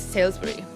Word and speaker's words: Salisbury: So it's like Salisbury. Salisbury. Yeah, but obviously with a British accent.